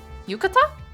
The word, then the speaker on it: yukata: The first one, yukata? Emphasis on the ka.